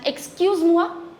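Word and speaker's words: excuse-moi: This is excuse ma excuse mua and this is excuse mua excuse mua excuse mua formal and excuse moa informal right let's just revise it once again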